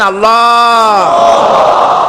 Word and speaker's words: আল্লাহ: আল্লাহ এই উচ্চারণটা আমাদের অনেকের হয় না, কেউ বলে না আল্লাহ। আল্লাহ পাকের উচ্চারণটা হচ্ছে, আল্লাহ পাকের নামকরণ হচ্ছে আল্লাহ। মুখটা একটু গোল হয়ে যাবে, বলেন আল্লাহ আল্লাহ আল্লাহ।